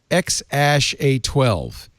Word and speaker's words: X AE A-12: A-E is pronounced Ash, so obviously the kid's name is Ash, right?